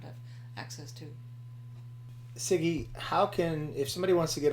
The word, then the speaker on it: Sigi: Yeah, it's not Zigi. I know. There's all kinds of different. That's right. So it's Sigi. So Sam, India, George, India. Yeah.